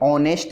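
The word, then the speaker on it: honest: का यूज करते हैं, क्योंकि यहाँ एच जो है साइलेंट है, तो किसका यूज होगा, एन का। मिस्टर मूली इज एन ऑनेस्ट man, mister मूली एक ईमानदार आदमी हैं।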